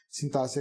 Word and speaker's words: sintaxe: Sintaxe é com X, a pronúncia com SS, né?